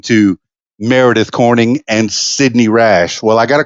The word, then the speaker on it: Rasch: Just Rasch. Just Rasch. Nothing but Rasch. Perfect. It's easy, no weird pronunciation or anything. Nope. Rasch, like Rash like Dash.